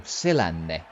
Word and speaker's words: Selänne: And, just to be clear again, we pronounce Teemu Selanne as Teemu Selänne.